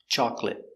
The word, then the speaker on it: chocolate: summer very good so remember these special words with a silent syllable chocolate catholic broccoli actually family or family